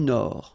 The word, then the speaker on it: Nord: La mer du Nord. Final D not pronounced.